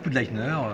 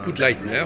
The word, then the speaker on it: Pudleitner: Voilà, donc je suis avec le créateur de Dessinéa, Frédéric, comment prononce-t-on votre nom? Bah écoutez, Frédéric Poudleitner, Poudleitner, voilà.